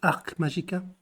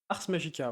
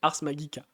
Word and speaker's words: Ars Magica: sur sur l'historique de Arc Magica? Ars Magica, ouais. D'ailleurs, si on veut être un peu tatillon sur la prononciation, ce serait Ars Magica. Être latiniste sur le...